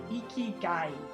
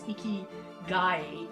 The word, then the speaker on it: ikigai: I don't know how to pronounce it, but there's a word, it's a Japanese concept, and it's ikigai.